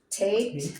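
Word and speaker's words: Tet: Tate, Tate. T as in time.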